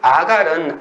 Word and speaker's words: 아갈: 그래서 이 아갈은 아간이라고 읽는 것이 적당합니다.